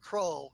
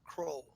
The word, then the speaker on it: Kroll: haha, Kroll, not Krull, Kroll.